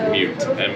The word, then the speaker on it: Mewt: It's just Mute. Mute? M-E-W-T. What's the meaning behind it? Honestly, it was a nickname growing up. My brother, I used to never talk. Uh-huh. So Mute means like, Oh, okay.